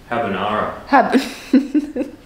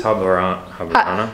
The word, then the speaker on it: Habarana: That's how you say it, right? Habanara. It's Habarana. Habarana.